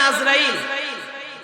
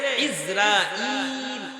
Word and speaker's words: ইজরাইল: কয়টা ভুল এক নম্বর নামটা বলি আজরাইল শব্দগুলো ঠিক আছে উচ্চারণটা ঠিক নাই শব্দ কি আইন জা র আলিফ হামজা ইয়া লাম তবে আইনের মধ্যে জবর না আইনের মধ্যে জের ইজরাইল বলেন না নামটা কি এই বিষয়ে